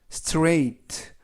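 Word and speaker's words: straight: 하세요 라는 의미 이구요 에스 는 쓰 티는 트 알은 느 ai 는 이중모음 으로서 a 그리고 쥐 h 도 이번 단어에서 는 발음하지 않습니다 알파 베티는 트 그래서 스트레이 스트레이트 라고 발음합니다 뜻은 똑바로 곧장 이런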